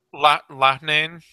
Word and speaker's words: Loughnane: Loughnane.